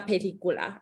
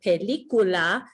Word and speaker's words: película: makes an S sound, but a C before an A, O, or U, like película, makes a K sound.